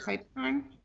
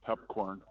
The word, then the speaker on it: Pipecorn: Pipecorn? Here, it's pronounced pepcorn.